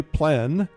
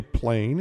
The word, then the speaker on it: plein air: open air or outdoors the French say plan others say plane it doesn't matter how